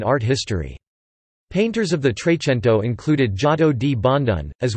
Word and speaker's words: trecento: the trecento Italian pronunciation trade Tinto Italian for 300 short